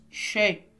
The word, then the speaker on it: chez: oui oui très bien chez non pourquoi parce qu'on a la lettre Z mais on nentend pas le son Z très bien c'est compris